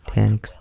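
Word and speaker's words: Taniks: up on this guy I actually thought his name was tanic the scared but it's actually tanx the scarred so no no joke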